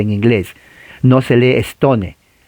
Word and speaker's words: Stone: No se lee Stone. La E no se pronuncia. Es con N de Nancy.